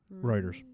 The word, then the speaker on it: Reuters: Is that Reuters? How do you say that? Reuters. Reuters.